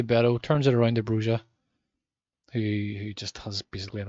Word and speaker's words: Broja: Armando Broja, or Broya, whatever way it's pronounced. He calls it Broja.